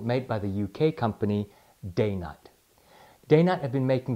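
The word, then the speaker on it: Dainite: call the Eaton here's an interesting tidbit about day night some people can pronounce it die night they came up with that name because they're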